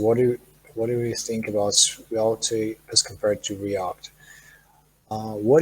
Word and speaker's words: Svelte: But yeah, now I know that the right pronunciation is Svelte.